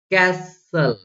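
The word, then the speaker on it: castle: जैसे देखो क्या क्या, जैसे आप क्या बोलते हो, कैसल, हसल, विसल, थिसल, पेसल, okay, नेसल, तो आपने टी का प्रोनाउंस किया क्या, नहीं किया यहाँ पर, ओके।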